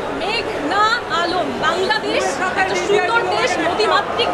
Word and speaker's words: মেঘনা আলম: আদালতে এসে শুনি পিপি বলছেন মেঘলা আলম। আমার নাম মেঘনা আলম।